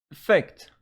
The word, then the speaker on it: effect: in your mind and effect effect as a noun again the stress is on the second syllable just this one is